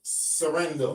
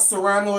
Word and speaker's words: Sorhaindo: Sorhaindo. That we talk about you on. You got the pronunciation. Sorhaindo is not Serrano, is not Soprano.